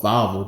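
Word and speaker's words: Wawel: it's called it's called valvo Dragon they pronounce their W's with a V sound they have this statue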